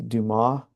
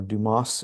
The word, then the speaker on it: Dumas: And uh the way that we do this in the lab is called the Duma or Dumas is how it's spelled, but I think I'm saying that right. Duma uh method.